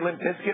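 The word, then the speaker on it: Limp Bizkit: stuff by the way do you say Limp Biscuit or limp bis kit I say biscuit but spelled bis kit it is spelled bis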